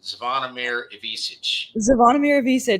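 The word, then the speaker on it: Zvonimir Ivišić: I can't even pronounce it. Zvonimir Ivisic.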